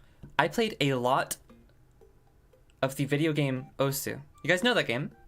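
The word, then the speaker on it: osu!: Then I found Osu. Or Os, as people like to say. Which I'm not gonna pretend to adopt a properly Japanese pronunciation of this stuff.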